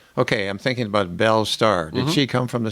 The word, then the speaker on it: Starr: It's Starr, not like up in the sky. And in Middle English, it's pronounced starry, and it means hawk.